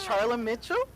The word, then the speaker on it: Charla Mitchell: you nervous we have Charlie Mitchell am I saying it right you are yeah I'm gonna ask